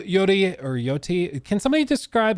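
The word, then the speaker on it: Yōtei: Yoti or Yoti. Can somebody describe how it's pronounced? Let me Google it. Yotei.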